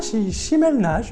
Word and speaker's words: Chimel Nage: Chimel Nage, c'est bien ça? Est-ce que je prononce bien votre nom? Bonjour Chimel. Bonjour, oui, c'est bien ça, Chimel Nage, lui-même en personne.